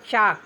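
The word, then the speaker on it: chalk: उसी तरह से सी एच ए एल के चाक चाक मींस घड़िया या चाक के से पहले एल का उच्चारण नहीं होगा।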